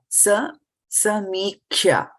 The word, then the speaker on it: samīkṣya: So, is the pronunciation is right? Yeah, samīkṣya.